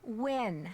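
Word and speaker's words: Nguyen: Maya Win. Can you spell that, please?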